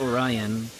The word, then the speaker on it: Orion: people also pronounce it oron I know in English we pronounce it Orion other parts I know